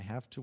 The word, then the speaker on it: have to: Nós acabamos pronunciando o V como F. Have to. Have to. I have to go. É tão rápido que o V se torna F em muitas situações.